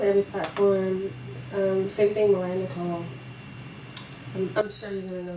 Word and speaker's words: Naycole: Same thing, Mariah Naycole.